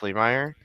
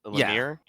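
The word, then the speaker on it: Lemire: Jeff Lee Meyer or Lamir. I believe it's Lemir. I could be wrong. I I think you're right. I think I just pronounced it wrong cuz I had a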